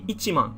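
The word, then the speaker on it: 一万: but the same thing if you want to write ten thousand by itself it's not just mon it's actually ichiman you have to specify that it's one time ten thousand so ichiman or ichimong depending on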